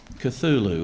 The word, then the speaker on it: Cthulhu: Cthulhu is the correct.